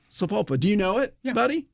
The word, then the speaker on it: Sapulpa: But in this little town, which I'm not even sure I can say it correctly, it's Sapulpa. Sapulpa.